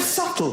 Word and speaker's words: subtle: The word subtle. Would anybody object if it was spelled s u t l e? Not a single person would.